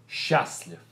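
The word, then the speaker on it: счастлив: sh sh and then we do not pronounce the letter T So letter T is silent we don't say or we just say Shas so it's going to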